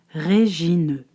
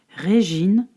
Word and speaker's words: Régine: Il fallait lire Régine, et non pas Régine vite fait. Comme cela, il semblerait que la différence est bien minime. Mais non, Régine se prononce en 3 fois. Le Ré comme la note de musique, le J comme Gina